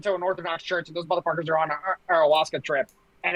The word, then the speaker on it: ayahuasca: Ayahuasca, is that how you say it?